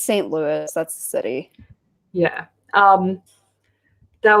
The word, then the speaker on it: St. Louis: then it's time for st. Louis no Louis but it's a Louie Oh Louis and st. Louis okay just because the non American pronunciation of that would is Louie well if it was like someone well it's like louis xiv but if it's spelled that way it's usually Louie but it's st. Louis that's the city yeah